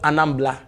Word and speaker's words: Anambra: It's always called Anambla. Okay. So their R is pronounced as so yeah.